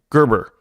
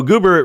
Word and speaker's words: Gerber: with business partner Peter Gerber. I didn't say you say his name. There's no Ger. No, it's Goober. So Goober right there, if you guys don't